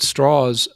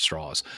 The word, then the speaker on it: Strauss: who he was but straws um to use the even though it's spelled Strauss it's pronounced straws um but uh he